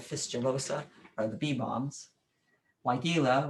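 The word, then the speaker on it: Weigela: are the bee bombs why gila which a lot of people make weigelia they just put an extra eye in there kind of like the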